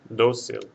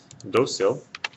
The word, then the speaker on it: Dócil: Dócil will have an accent mark over the O because the stress is right here on this syllable and it ends in something other than a vowel N or S.